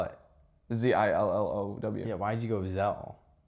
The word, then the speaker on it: Zillow: I went on to Zello to find any rentals.